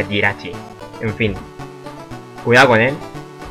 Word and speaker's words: Jirachi: O Jirachi, yo le llamo Jirachi, pero creo que se pronuncia Jirachi.